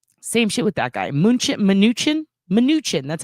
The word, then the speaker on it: Mnuchin: Mnuchin?